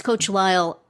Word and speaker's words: Lisle: this guy a coat I think it's pronounced coach Lyle it's coach Lyle l-i-s-l-e on Instagram and they